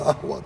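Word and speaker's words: قهوة: O, hatta kaf harfi yutulur. Telaffuzunu ahva derler.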